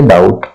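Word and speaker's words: doubt: इसको इस स्थिति में बी को हम साइलेंट करते हैं जैसे हम पढ़ेंगे डाउट ठीक इसको हम पढ़ेंगे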